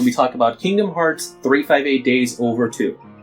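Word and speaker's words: 358/2 Days: looks like in yes it is officially supposed to be pronounced 358 days over - it's one of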